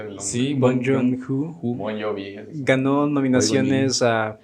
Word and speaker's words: Bong Joon-ho: Pero bueno, esta película sale en 2019, dirigida por Bong Joon-ho, si estoy diciendo bien. ¿Sí? Yo no puedo pronunciar el nombre. Sí, Bong Joon-ho.